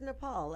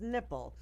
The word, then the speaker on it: Nepal: with India's Prime Minister mispronounced Nepal as nipple and laughing like just